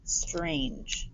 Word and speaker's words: strange: or the week before this e is super strong it jumps over one two consonants to make the a say its name and it also makes this g soft and the e is silent strange strange and that